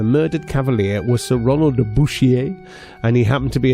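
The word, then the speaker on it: Bouchier: And I'm saying Bushier cuz it's spelled B O U C H I E R.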